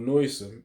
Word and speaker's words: noisome: Yeah, this is a Google definition of noisome. Noisome. Noisome. Yeah. Noisome. So that's how you say it. You say it. Noisome, having an extremely offensive smell, very disagreeable or unpleasant.